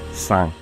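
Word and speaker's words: 三: go 182 knee three Sun right it's it's spelled Sun that's a empty but the end makes a ng sound so it's sound then it's cheap then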